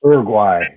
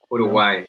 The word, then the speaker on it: Uruguay: I want you to say it like David says it. Uruguay. Uruguay. Uruguay. Yeah, the U is just Uruguay.